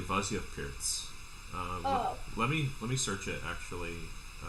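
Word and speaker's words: Pirc: Do you know it's not pronounced perk? Oh, how is it pronounced? Very few people know it's pronounced Pirtz.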